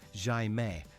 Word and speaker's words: Jaime: A local student called him Jaime, pronounced Jaime, the Portuguese equivalent.